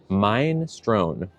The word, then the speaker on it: minestrone: she sent was okay I am Italian so here's the right pronunciation mine Strone e not a or e oh minestrone